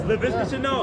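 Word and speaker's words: Laviska Shenault: Yes, LaVisca Chenault.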